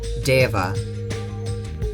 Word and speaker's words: Deva: dark Devas of Destruction is it DEA or Diva I'm looking this up e e v a pronunciation DEA DEA have the